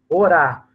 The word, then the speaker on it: orar: Então, nós temos orar, né? E não ora, orar.